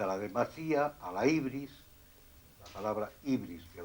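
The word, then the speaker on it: ὕβρις: en vez de la U es una Y, se escribe como una Y, la ibris, significa demasía, exceso, etc.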